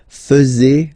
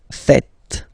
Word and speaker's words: faites: And it's quite funny because many French people tend to make the mistake and tend to say vous faisiez, okay? But then no. It's vous faites. Vous faites.